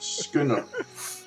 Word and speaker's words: schooner: It's S-C-H. Yes. Schooner. But it's pronounced Schooner.